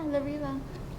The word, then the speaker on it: La Riva: She is here today to represent the La Riva, you got to pronounce the second one. Yeah, La Riva.